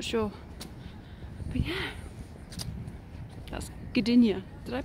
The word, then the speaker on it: Gdynia: But yeah, that's Gdynia. Did I pronounce that right? Yeah. Check me out, Gdynia.